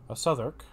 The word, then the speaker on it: Southwark: Southwark. I keep forgetting the W is silent.